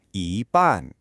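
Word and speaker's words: 一般: So, the phrase you just heard was yi ban. Did you catch how both syllables were spoken in a high, flat tone? That means so-so.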